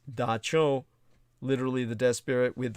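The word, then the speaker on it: dab tsog: that at the dawn of time their god da cho which is spelled as in the capuchin the cambodian language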